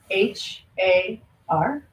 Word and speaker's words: har: Mantra is the word har h a r and we pronounce it like har so it's almost like HUD you're trying to roll the tongue on the top of the mouth but the most important